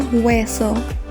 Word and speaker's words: hueso: bone in this case the h is silent or pronounced as w el hueso the spanish word